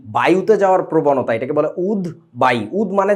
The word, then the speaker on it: উদ্বায়ী: এই শব্দটাকে তোমরা হয়তোবা উচ্চারণ করে থাকো উদদায় উচ্চারণটা উদদায় না উদবাই বায়ুতে যাওয়ার প্রবণতা এটাকে বলে উদবাই উদ মানে যে ওড়ে স এটার ইংরেজি কি